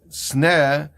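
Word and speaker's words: סנה: So the first thing the answer is that sneh, even though it's written with samach nun, it has the same pronunciation as sina, sin nun.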